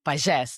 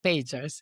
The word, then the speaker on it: Pagès: And Pages, not Pages. It has an accent on the E, which I can never type because I don't have a keyboard to type Catalan accents.